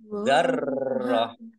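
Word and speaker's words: ذرة: Dzarrah, roknya dibaca double karena ada tasbidnya. Dzarrah. Nah, tak marbutoh kasroh tanwin ini karena wakof maka dibacanya hak sukun. Dibacanya hak sukun. Berarti bacanya dzarrah.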